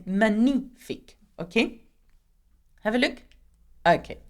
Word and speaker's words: magnifique: It is magnifique. Magnifique. In English, you say magnificent, but in French, we hardly pronounce the G, so we say magnifique, okay?